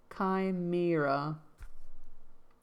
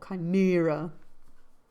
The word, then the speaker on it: chimera: Pronunciation, I believe. Kimra stress on the second syllable. Chimera. Okay. Chimera, Chimera, Chimera, Chimera, Chimera,